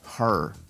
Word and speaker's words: her: Porque cabello se dice hair. Hair. Y ella se dice her. Pero yo decía, cuando veía la E, yo pronunciaba hair para usar el pronombre personal. Cuando decía eso, estaba diciendo cabello.